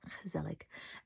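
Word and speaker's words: gezellig: Dutch word is kelig spelled with a G which is kind of pronounced like an h and kelig kelic and uh it seems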